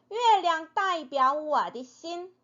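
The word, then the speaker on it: 的心: 자신 신 나의 마음이지요 근데 노래에서는 신이라고 발음을 하지 않고 디신이라고 한다고 했었죠 자 한번 읽어 볼까요 디신 디신 자 이게 전체적인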